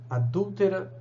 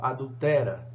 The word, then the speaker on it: adúltera: e aí às vezes sem ler a palavra adúltera como adultera sem o acento agudo no u e Isso muda a